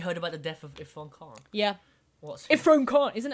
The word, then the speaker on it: Irfan Khan: What do you think about Irfan Khan? Have you watched many of his movies? Yeah. Is how you say his name? Sorry if I'm I butchering think it his is Irfan Khan. Irfan Khan.